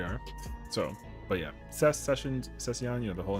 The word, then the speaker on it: Sessiion: Uh, Session. Yeah, just the the little I kind of confuses a lot of people, hilariously enough. Uh, so I've been called Cession, which I'm like, all